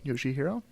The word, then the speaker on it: Yoshihiro: Yoshihiro. As far as I know. Yeah, Yoshihiro.